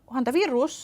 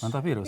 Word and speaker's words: hantavirus: Oh, bacanya gimana? Oh, hanta virus. Hanta virus.